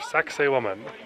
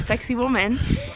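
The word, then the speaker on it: Sacsayhuamán: And I looked at the spelling and it's spelled totally different, but that's how everyone's been saying, like, oh, you have to see sexy woman.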